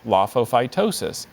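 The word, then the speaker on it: lophophytosis: friends politely asked her to stop yelling out lofophytosis every time one of them began a why did the chicken cross the road joke can you pronounce the word again sure laphophytosis lofophytosis multiple parts of this word are characteristically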